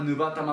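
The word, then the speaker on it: 烏羽玉: いずれにしてもカラスの羽の玉と書いて乳母玉、乳母玉と読ませますから、黒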